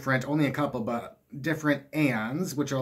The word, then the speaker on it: Aeon: Do you pronounce it Aeon, or is it just Eon? It's A-E-O-N.